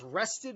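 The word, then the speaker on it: wrested: rested uh from entities that's rested with a silent or soft W in front like wrestle rested um from entities entities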